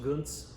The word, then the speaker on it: Gönc: So this is the Gönc Pét-Nat Natural Rosé. It's spelled G-O-N-C, but that's pronounced Gönc.